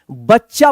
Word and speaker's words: बच्चा: बच्चा पढ़ेंगे आप बच्चा। यानी च जल्दी उच्चारण हो जाएगा। अगर आप पूरा च लगा देंगे उच्चारण करेंगे बच्चा।